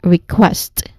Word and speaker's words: request: So you say it as request. The syllable stressed is on the second syllable quest.